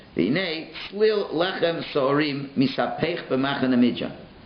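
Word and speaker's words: צליל: It's written one way and it's pronounced another way. And we'll see later on what that means. So it's written Salul, but it's read Slil. So he says, Slil lechem sorim misapech b'machane midyan.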